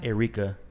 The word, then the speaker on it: Airika: Airika. It's Air and then IKA.